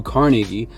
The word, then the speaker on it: Carnegie: But Napoleon Hill, who was actually mentored by Andrew Carnegie, that's how he pronounces it, which is a steel titan, huge business owner in the early 19th century.